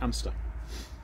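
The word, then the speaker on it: Anstruther: spell anderson of amster which is spelt and struver but i'm reliably informed it's pronounced amster so anyway anderson of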